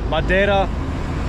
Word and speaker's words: Madeira: Some pronounce the I as silent, Madeira.